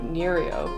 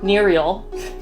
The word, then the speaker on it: Nerial: which is a game made by the studio nerio neriel sorry like straight up mispronouncing the name off the back uh but